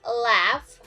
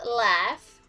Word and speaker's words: laugh: g and h so you can pronounce it with f like f so the example like laugh not loud but laugh are enough not enough